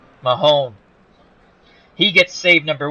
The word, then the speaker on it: McMahon: McMahon. McMahon.